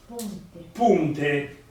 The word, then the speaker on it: ponte: Se invece io dico U, come il ponte Morandi, punte, come devo scrivere? Devo scrivere U o O. Allora, faccio riferimento alla parola italiana. La parola italiana è ponte, di conseguenza scriverò ponte in senese, e in questo caso la O si leggerà U.